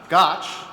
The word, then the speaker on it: Gotsch: Maria rhymes with Scotch. Gotch is the president and CEO at the Partnership Fund for New York City.